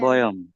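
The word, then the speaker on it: বয়ম্: বয়ম। হ্যাঁ, বয়ম। বয়ম। ভ, এটা হচ্ছে অন্তস্থ ভ। তো এটা আপনারা উচ্চারণ শিখেছেন, ওয়া এর মতো হয়, বয়ম। বয়ম। ওয়ায়ম।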